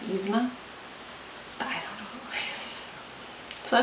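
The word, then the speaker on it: Yzma: heard the character names i know that it's pronounced izma but i don't know so that's three codes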